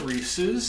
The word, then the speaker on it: Reese's: next up we have the reese's sticks or the wreath sticks as i've heard a lot of people mispronounce improperly call it and now on the